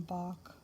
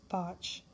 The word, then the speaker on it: Bach: people call them botch some people call them bach i think the correct pronunciation is botch so i i have